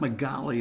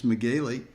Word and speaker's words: McGaley: Mike McGaley, been pronouncing his name wrong for all those episodes. It's not Magali, it's McGaley.